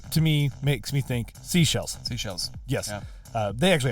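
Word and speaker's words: Seychelles: people was like No it's it's actually like seashells I'm like like of course because it's spelled s e y c h e l l e s that to me makes me think seashells seashells yes uh they actually have three but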